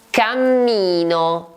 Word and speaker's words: cammino: Cammino. Cammino, che si scrive con la doppia M.